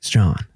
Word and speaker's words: Strahan: Today on the show, I've got my good buddy, Ben Strahan. Did I say you right? I always fuck up your last name. You said it right.